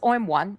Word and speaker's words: OM1: So you're gonna be talking to us about OM1, and is it pronounced OM1?